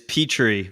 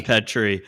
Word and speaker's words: Petri: of your last name it is petrie but everybody says pet tree oh i'm so close